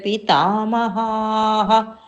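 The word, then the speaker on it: पितामहः: 34th, Acharyah, Acharyah, Pitarah Putraha, Tathaiva cha Pitamaha. Maha, that Visarga will get one ha. So it is elongated ha is there, so that Visarga ha also become elongated.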